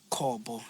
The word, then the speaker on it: Kobo: But in Venda we have Did you say Kopo? Kobo. Like in Venda, like Kobo. That's how you pronounce Oh, it.